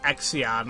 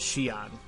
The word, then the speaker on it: Xion: to this game, it's it's pronounced Xion. Now, I kept saying it Exion. I'm like, that can't be right. And people say Xeon or or something like that, but I believe her way you're supposed to pronounce it is Shion, right?